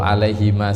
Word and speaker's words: عليهما: Seperti yang sering saya jelaskan, kalau pas ngaji, kalau alaihima seperti ini, kalau waqaf dia bacanya harus satu alif saja, jadi tidak panjang ya.